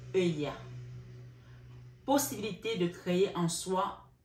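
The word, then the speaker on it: Heuiah: Alors, non, Aela. C'est pas elle, c'est I. Donc, ça s'écrit H, autant pour moi, H-A, H-E-U-I-A-H. Aela.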